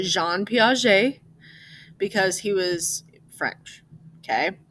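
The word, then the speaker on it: Piaget: french guy that's why you say his name Jean P even though it's spelled like Jean Paget right but you say Jean P because he was French okay um so he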